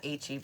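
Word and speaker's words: H-E-B: H EB.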